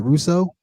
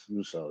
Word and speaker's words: Rousseau: Rather pronounce it, Rousseau. Yes, Rousseau, yeah, it's French.